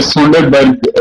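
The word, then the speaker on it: Sønderborg: शायद आप इंग्लिश में पढ़ेंगे तो ये सुंडरबर्ग बनेगा, लेकिन वो प्रोनाउंसिएशन जो है उसकी डैनिश में भी सुंडरबर्ग है।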